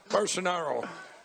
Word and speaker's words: Bolsonaro: Bolsonaro.